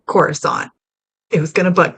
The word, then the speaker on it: Coruscant: Yeah, it's Coruscant. See, I'm the reader. This is why I mispronounce everything.